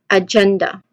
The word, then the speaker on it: agenda: We get the pronunciation of the word as agenda. Again, agenda. So the main emphasis again, it should be on the second syllable, gen.